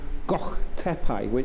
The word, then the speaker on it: Gök Tepe: It's actually called Gök Tepe, and Matt and I were having a conversation sense. today about the word Gök. Yeah, sometimes you just And it's spelled don't feel like G-O-K with the O with an umlaut over the top.